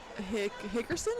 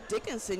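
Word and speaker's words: Dickenson: Hickerson? Is that how you say it? Dickerson. No. Wait. They went to Dickinson yesterday.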